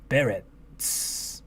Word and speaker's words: Berets: Berets. The T is silent.